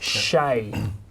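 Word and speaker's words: Shae: Shay. How do you spell it?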